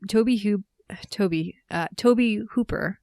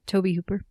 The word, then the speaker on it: Tobe Hooper: Tobe Tobe Hooper. That's how you pronounce his name. Tobe Hooper.